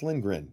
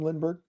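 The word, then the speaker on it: Lindgren: call him lyberg it's lingren did I call him Lindberg I don't know did I say Lindberg no no you said it right I said it wrong oh sorry anyways go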